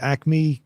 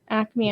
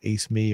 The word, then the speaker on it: Acme: I wasn't sure if it was pronounced Ace Me or what.